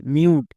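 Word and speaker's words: mute: মিউ plus ট মিউট শেষের ই silent তাহলে এর উচ্চারণ কিল এম ইউটিই মিউট এরকম করে যদি আমরা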